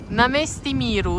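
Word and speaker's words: Náměstí Míru: Namesti Miru is probably the more correct pronunciation, we will also visit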